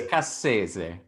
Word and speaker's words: Cassese: It's a little bit like Scorsese, so Okay. it's Cassese. Cassese.